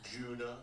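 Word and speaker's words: Djuna: What the Junah? Juna. So, the D is silent.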